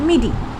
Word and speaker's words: MIDI: एम आई डी आई is pronounced eight मिडी।